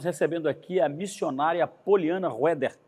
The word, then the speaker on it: Roeder: Nós estamos recebendo aqui a missionária Poliana Roeder. É assim que pronuncia?